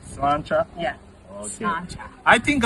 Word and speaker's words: sláinte: In Irish it's sláinte. Slancha.